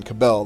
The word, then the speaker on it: Cabal: film is John cabal John cabel they say but it's spelled cabal and once again I